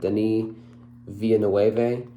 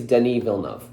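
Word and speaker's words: Denis Villeneuve: heard this is enemy this is a Denise Villeneuve I don't say it Danny villanov I always thought he was Spanish so I always said Danny via nueve uh which is not spelled like that at all uh then I heard somebody a couple people actually say it the right way I think so I think I think it's Denny villanov um this is enemy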